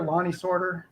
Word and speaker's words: Lonnie Sortor: It rolls a little quicker, Lonnie Sortor.